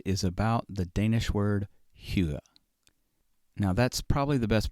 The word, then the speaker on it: hygge: find other pronunciation guides the closest i can come is hugo it is spelled differently than it sounds somehow it is spelled h y g g e now you might be